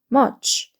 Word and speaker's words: much: 있는 사각이라 우리가 부르는 건데 얘는 모양 삼각형 발음 어이기 때문에 어가 빨리 읽으면서 치로 넘어가면 됩니다 그래서 much much 이렇게 돼요 much은 무 소리죠 머 머